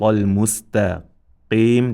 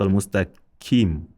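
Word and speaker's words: المستقيم: That is why, especially when this qaf comes in the position of kesra, qi, many beginners will pronounce it like kaf with kesra. Ihdina sirat al-mustaqim. They will say Ihdina sirat al-mustaqim. Kim, which is totally wrong.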